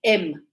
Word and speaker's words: them: So usually native speakers, we don't say wash them and put them away. We go wash them and put them away. That is how we pronounce. We don't say them. We say M.